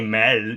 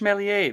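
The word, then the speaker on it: Méliès: george mason josh mal you don't say mel do you think melie oh george mellier that's exactly it so helen mccrory is playing the the wife of george melie she kind of she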